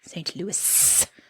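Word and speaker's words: St. Louis: it is in fact St Louis there is an S at the end there is an S and it is pronounced it is in Missouri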